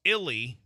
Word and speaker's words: Illy: can call it Illy pronounce Illy to rhyme with Billy I don't know how